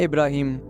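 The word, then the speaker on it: Ibrahim: Juice और Christians की pronunciation में अब्राहम और इस्लामिक प्रोनाउंसिएशन में इब्राहिम।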